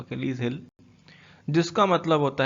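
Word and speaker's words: Achilles heel: अकेलीज हिल, मैंने इसका प्रोनाउंसिएशन भी ऊपर लिखा है, आप इसको इस तरीके से प्रोनाउंस कर सकते हो, अकेलीज हिल, जिसका मतलब होता है वीक पॉइंट।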